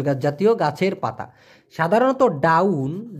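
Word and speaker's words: daun: জাতীয় গাছের পাতা সাধারণত down D এ ইউ এন উচ্চারণটা হবে ডাউন এই ডাউন মানে হলো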